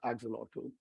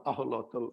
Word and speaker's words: axolotl: in this wonderful creature called Axolotl or aholotl as it's pronounced in Spanish um this animal comes